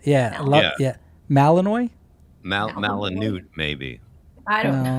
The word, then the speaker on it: Malinois: How do you pronounce that last word? Malinois.